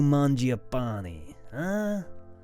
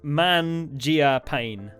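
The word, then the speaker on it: Mangiapane: 88 as well Andrew mapani no chance giodo holds a c of that name can't even be to spell it right it's man Gia pain yeah it's it's I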